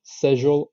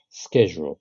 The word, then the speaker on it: schedule: So this word can be pronounced British, schedule, or American schedule. I prefer the American version, but both are correct.